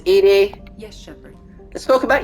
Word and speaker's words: EDI: all in perspective joker uh leather it's called edie yes shepard let's talk about you i want